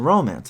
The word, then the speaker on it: romance: head and folded wing normal pronunciation puts the stress in romance on the first syllable and thus makes the word a trochaic stressed unstressed foot but the predominant foot